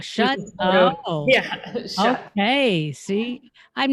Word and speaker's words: Schutt: Oh, Yeah, Schutt.